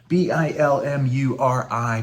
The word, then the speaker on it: Bilmuri: It's not spelled like that. Did I say that before? Bilmuri, Bill Murray is how that's spelled.